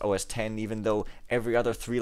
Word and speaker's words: OS X: and in in mac os x which is somehow supposed to be pronounced os 10 even though every other